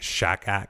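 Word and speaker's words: שֹׁחַד: And they said the bribe's like shakak. That's how you say it.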